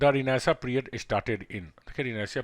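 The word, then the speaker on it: Renaissance: रिनाइसा, इसको रिनाइसा पढ़ते हैं, you must mind it's pronunciation.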